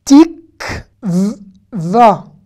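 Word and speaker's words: תקווה: Kotel, tik, va. Hein, voilà, le vav ici se prononce, hein. Il y a un kamatz en dessous. Tik va.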